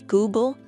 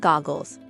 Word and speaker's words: Google: mispronunciations pointing out that it was Google not goggles and chrome not columns